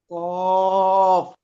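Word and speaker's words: ق: ক- কফ জিভের গোড়াটা উপরে লাগান, উচ্চারণ কারণ হচ্ছে না, জিভের গোড়া উপরে না রাখলে কফের উচ্চারণ আসবে না।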